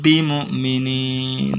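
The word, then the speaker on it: بِمُؤْمِنِينَ: Misalkan contoh ya dalam kalimat ini, wa ma hum bimu'minin, dibaca dengung. Jadi bukan dibaca wa ma hum bimu, bukan, tapi dibaca dengung karena ini adalah ikhfa syafawi. Dibacanya wa ma hum bimu'minin ya.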